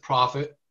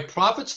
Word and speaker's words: Prophet: girl no i mean it's spelled p-r-o-p-h-e-t like a prophet like a profitable yeah exactly exactly steve